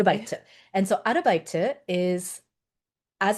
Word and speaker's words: 아르바이트: so this is how it's pronounced in Korean, Okay. 아르바이트.